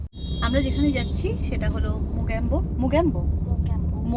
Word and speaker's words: Mocambo: ভালো হাওয়া আসছে আমরা যেখানে যাচ্ছি সেটা হলো মোক্যাম্বো মগ্যাম্বো মোক্যামবো রেস্টুরেন্ট একবার নামটা পরিষ্কার কর উচ্চারণ কর মোক্যামবো তো ওটা এখান